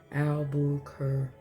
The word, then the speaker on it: Albuquerque: I just knew that word just because of the way it's spelled. Albuquerque. So key is Q.